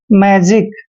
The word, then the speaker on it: magic: Next word देखिए MAGIC, एम का उच्चारण दोस्तों मैं करते हैं, ए को ए की मात्रा पढ़ते हैं और जी का उच्चारण हम जय करेंगे, आई को छोटी की मात्रा पढ़ते हैं और शी का उच्चारण यहाँ पर कै करेंगे, क्योंकि जब भी सी से पहले आई आता है और लास्ट में सी आता है तो सी का उच्चारण कै करते हैं।